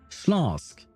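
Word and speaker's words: Śląsk: Slask. Okay, that's how you pronounce that one.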